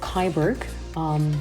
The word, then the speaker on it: Kyburg: The people of Kyburg, sounds like Cyborg, Kyburg founded the city, which received the so-called right of the city by Habsburgians in 1264.